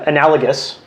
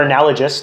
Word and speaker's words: analogous: I think we've confused or made America and capitalism analogous or analogous, depending how you like to pronounce words. I go with the G.